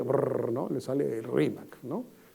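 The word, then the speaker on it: Rímac: Entonces, el quechua de la sierra es un poquito más fuerte en la pronunciación de la L, termina siendo una especie de R, ¿no? Entonces, no es Limac para alguien de la sierra, no es Rimac, ¿no?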